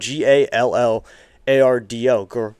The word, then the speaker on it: Gallardo: That's spelled G- A L L A R D O. Gallardo. So that's the name.